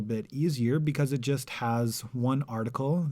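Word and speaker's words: ה: easier because it just has one article the definite article pronounced ha if the known doesn't have the article then it's considered indefinite now the article is always pronounced ha and it's written as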